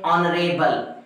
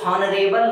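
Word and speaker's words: honourable: जरा ध्यान से देखें, ऑनरेबल, ये हॉनरेबल नहीं होता है, ऑनरेबल होता है।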